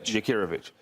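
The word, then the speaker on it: Jakirović: Jakirovic.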